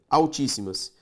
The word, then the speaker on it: altíssimas: antepenúltima proparoxítona sempre acentuada altíssimas a ao x lembra de separar isso aqui em cima sílaba tônica tá aqui proparoxítonas devidamente acentuada pássaros pa pássaros também